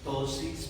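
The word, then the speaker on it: ptosis: Tosis paltebral se llama. Dosis paltebral. Se escribe así con una p antes dosis ptebrar quiere decir literalmente párpado caído.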